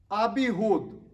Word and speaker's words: Abihud: Son number 3, Abihud. Spelled A-B-I-H-U-D. Abihud. Son number 4, Abishua. That's spelled A-B-I-S-H-U-A.